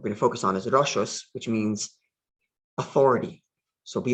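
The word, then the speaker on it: רשות: Reish, Shin, Vav, Saf. It's rashos or rishos.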